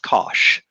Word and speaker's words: cosh: And it's just pronounced cosh.